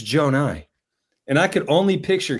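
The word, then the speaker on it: Johni: But Johnny's name is pronounced Jonai.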